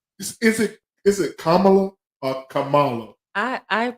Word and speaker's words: Kamala: Is it three syllables or yes, two syllables? Three. So it's the three syllables.